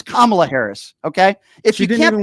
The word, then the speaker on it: Kamala: I'll answer your question if you could at least show the respect of pronouncing her name right, you dope. Okay? It's Kamala Harris.